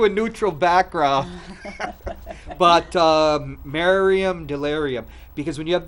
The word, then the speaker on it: Miriam: want to call you but tell me what your name is after 5 000 times Miriam Miriam Miriam Miriam I want you to be made married rhymes with delirium and they're delirium Miriam